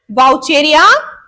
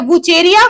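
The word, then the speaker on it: Wuchereria: सबसे important question वाउचेरिया एंड या वुचेरिया, कुछ भी इससे प्रोनाउंस कर सकते हैं आप, वुचेरिया एंड एस्केरिस से बनता है, ठीक है।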